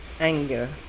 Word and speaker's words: anger: Ang pangala pong word na narinig kong mali ay anger. Ang sinabi po na mali ay anger. Sa sound po ito, stress din sa first syllable, pero yung tunog po ng A ay A.